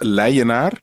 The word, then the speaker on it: Leijenaar: Well, my last name is pronounced Leijenaar. Leijenaar. On the Dutch way, Leijenaar.